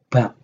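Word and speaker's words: 밥: b a dan P bab Bukan dibaca bab dibacanya BAB karena bab di bawah itu bukan bunyinya b atau P tapi bunyinya P nah bang itu kan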